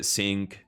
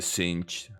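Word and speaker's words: Singed: is Echo Jinx cin people were saying that my pronunciation of sing I say sink but apparently cin Victor of course even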